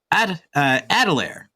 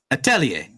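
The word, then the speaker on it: atelier: wrong for years now how I was saying it is adelir because that's how it's spelled yeah a t e l i e r ad to okay gotcha but how it's actually said is aell oh okay yeah yeah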